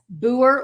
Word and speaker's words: Booher: well thank you Bill it's booer like my last name you know I always spell it b-o-o-h-e-r it's like Boo her except I hope they